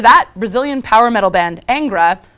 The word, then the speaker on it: Angra: Brazilian power metal band Angra who actually is pronounced Angra have a new album